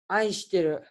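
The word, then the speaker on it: 愛してる: Aishiteru. Hah? Aishiteru. Aesteru, bukan Esteru ya?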